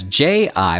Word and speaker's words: ji: So whereas J-I would be Ji, Q-I would be Chi. Do you hear the difference?